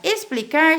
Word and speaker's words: explicar: ele revolucionou é explicar explicar se escreve com x porque o X Ele tem cinco sons e aqui no caso é o x com som de s Olha quando nós falamos olhem